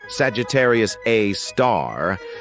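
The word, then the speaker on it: Sagittarius A*: we've got Sagittarius A which is pronounced Sagittarius A star this space monster is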